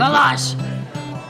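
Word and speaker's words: Vallas: I know, it's Hungarian. It's Hungarian. Yeah, you gotta be all like Valash. That's how it's pronounced.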